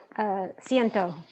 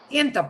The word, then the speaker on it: ciento: Ciento. Ciento, perfecto, perfect on that.